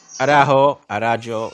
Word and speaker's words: Araujo: Jay, Maxi Arajuo, is it pronounced Arau or Arajo? Arajo, Okay, but I just Maxi try to make it Araujo, easier for you.